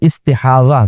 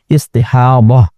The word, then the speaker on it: استحاضہ: ہیں ضاد اور ہا، استحاضہ، اور اردو میں استحاضہ کہہ دیتے ہیں زی کے ساتھ، تو یہ ہے ضاد ہی لیکن اردو میں ہم زی کے ساتھ تلفظ کرتے ہیں استحاضہ۔ استحاضہ کا مطلب یہ